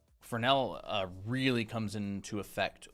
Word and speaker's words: Fresnel: How do you spell spell fel re nell? Yeah. But the s is silent.